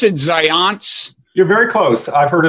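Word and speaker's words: Zajonc: do you pronounce it science you're very close I've heard it all different ways but it's like science with the Z so it's science it's spelled Z AJ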